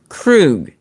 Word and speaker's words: Krug: He says, for the record, my last name is pronounced Krug.